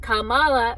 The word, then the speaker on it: Kamala: And if Kamala, that's how you say it, Kamala, remember, Camilla fucked Prince Charles, and now married him, so I guess I should be much more respectful.